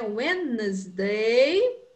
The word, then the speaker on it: Wednesday: A gente não pronuncia aquele D, né? Wednesday, very good.